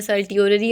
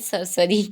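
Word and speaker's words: certiorari: देखो कौन सी रिट है ये हमारी, सरसरी इसको बोल सकते हैं, सर्टियोररी आप बोल सकते हो, नो मैटर, आप इसको किसी भी तरह प्रोनाउंस कर सकते हो, बट we pronounce it एज सरसरी।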